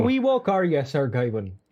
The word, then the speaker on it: Gawain: It's based on the Arthurian legend, Sir Gawain and the Green Knight. I always wondered how you pronounce Sir Gawain, but Gawain.